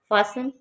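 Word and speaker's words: fasten: फासन, इसमें T silent है, silent है।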